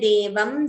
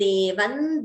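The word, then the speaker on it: देवं: So therefore the Visarga, the Anuswara gets replaced by the Anunasika of that Varga. So instead of Nache Devam Devaha, we chant it as Nache Devan Devaha.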